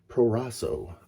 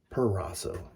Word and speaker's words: Proraso: using some pre-shave by proraso i always want to say perraso but you guys know what i'm talking about if i say it